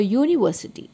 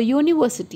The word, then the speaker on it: university: is y u so these words begin with Y sound the letter y is a consonant so here we use a uniform a university the next in inite